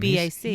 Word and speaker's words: Tubac: Tubac. He's on Voyager. He's the Vulcan on Voyager. No, but it's actually a place, but that's pronounced with like a V instead of a B.